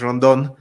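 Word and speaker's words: rondón: To say "run down," and then in the way it's pronounced in Spanish, "rondon."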